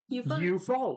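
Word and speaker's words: Eufaula: you got it right I did e-u-f-a-u-l-a you follow her the E assignment and it's a long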